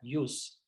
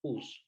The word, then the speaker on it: ius: las J eh que en latín se diría use pero nosotros en español lo pronunciamos como pus porque la J para nosotros tiene otra pronunciación